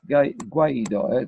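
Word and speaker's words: Guaidó: And they say, Juan Guaido, which is called Guaido, as a symptom like people like Guaido, yes, it's pronounced Guaido.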